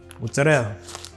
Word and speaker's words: mozzarella: Mozzarella or mozzarella, depending on how you say it.